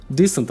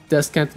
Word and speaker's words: descent: Bir de des diye kısalttığımız descent diye yanlış telaffuz edilen, hatta bazılarının descent diye yine yanlış telaffuz ettiği bir warrior becerisi var biliyorsunuz. Takım arkadaşınıza ışınlanabilmenizi sağlayan bir beceri. Bunun anlamı iniş. Doğru okunuşu decent arkadaşlar. Decent. Descent veya descent değil. Decent.